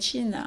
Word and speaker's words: Qin: bonjour tout le monde je m'appelle chine on l'écrit qi est non prononce t c hin je suis une chinoise